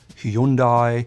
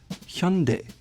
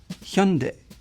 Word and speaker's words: Hyundai: And the back part is not like day in English, but de.